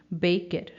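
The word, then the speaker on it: Bäcker: बेकर के लिए हम यूज़ करेंगे वर्ड बेकर, बेकर, और फीमेल के लिए बेकरिन, बेकरिन. इसमें आ साउंड पर उमलाउट है तो वो ए है, इसलिए कि बेकर ही है.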